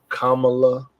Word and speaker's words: Kamala: mean and uh and people fight over the pronunciation of her name Kamala Kamala yo it was neither it was Kamala right